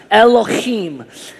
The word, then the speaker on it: Elohim: And you have to do that with your voice. If you don't, you didn't say it right. Elohim.